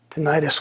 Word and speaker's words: tinnitus: comes on, and the tinnitus. I don't know if I'm even pronouncing that correctly. I hope it's okay. Tinnitus, they're both the same.